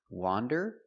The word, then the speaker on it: wander: Wander with the open sound, ah, wah, wander, and wonder with the closed sound, wah, wonder.